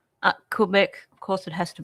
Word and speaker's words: Quebec: How did I pronounce it wrong? Gasper? Quebec.